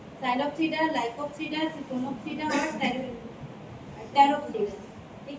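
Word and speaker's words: Psilopsida: यहाँ पर भी पी साइलेंट है, साइलोप्सिडा।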